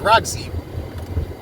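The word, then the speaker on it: Rogzi: TikTok, his name is Roxy. You know, it's not spelled like the woman Roxy.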